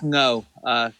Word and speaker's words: Ngo: It's Ngo. G kind of silent.